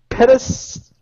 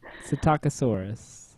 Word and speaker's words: Psittacosaurus: Petasaurus. I think the P is silent. Castosaurus. I think it's Psittacosaurus.